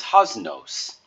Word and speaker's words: haznos: So you could say your pater noster or host or most, and that's the same vowel you would use for nos. So this word is haznos.